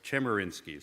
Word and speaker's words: Chemerinsky: the Erwin German insky did I they're right Chemerinsky sorry I keep mispronouncing his name he doesn't eat said he